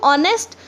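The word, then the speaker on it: honest: सकते देखिए और लिस्ट जब मैं बोलती हूं ऑनेस्ट तवा पुलाव देखिए ओर से शुरू हो रहा है इसके अंदर साइलेंट है तो इसीलिए हम लोग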